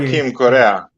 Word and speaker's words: Joaquin Correa: I can't pronounce his name very well. Correi. Joaquin Correa.